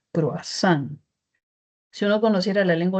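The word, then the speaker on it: cruasán: Entonces ya no vamos a escribir croisan ni vamos a pronunciar ni leerlo crois, sino se va a escribir croazán y se va a poder pronunciar croazán.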